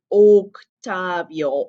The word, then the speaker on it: Octavio: Now, this one's tricky because we have the O's and the A's, and we see a Octavio, but we know that the word is taco, so we have to do Octavio, Octavio, Octavio.